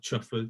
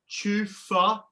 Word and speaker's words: chufa: with these tiger nut chuffer diversion. According to my gardening app, it's pronounced chufa. A chuffer means something very different, Dad.